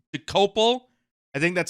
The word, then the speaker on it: Dokoupil: So, this guy Tony Doapill, I think it's I think it's Dopal. I think that's how you say it, but it does look like it's spel it looks like uh Dopil, doesn't it?